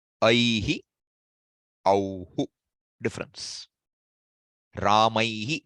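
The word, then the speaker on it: रामैः: Ramaihi, not Ramaihai.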